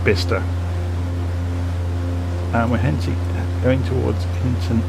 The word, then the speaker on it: Bicester: It says Bicester, it's pronounced Bicester.